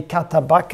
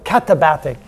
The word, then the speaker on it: katabatic: They're called the Katabaka, or what's it called? I always forget the name. I had to write it down somewhere. Where'd it go? There we go, katabatic.